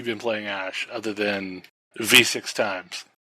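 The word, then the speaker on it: VVVVVV: website there they say this game is pronounced the letter v six times that's hilarious okay so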